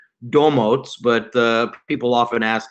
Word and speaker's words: Domotz: starting to say it we say dough motes but people often ask